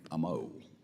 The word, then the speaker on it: Amo: Gabe Amo. How do you say your last name, Gabe? Amo. Amo. Yes. All right, brother, I got it. All right. Amo.